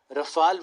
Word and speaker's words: Rafale: So if you would ask somebody who is French how to pronounce this, they would say Dassault. For them, this will be something like this, and Rafale would be something like this.